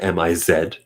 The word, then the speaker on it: Ms.: MS period, it's pronounced like MIZ, like the wrestler The Miz.